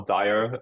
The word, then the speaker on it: DIA: of the co-founders of Kia or Dyer um depends really on I guess the region how to pronounce it feel free to pronounce it however you want to we found that